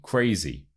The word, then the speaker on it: crazy: The stress is on the first syllable.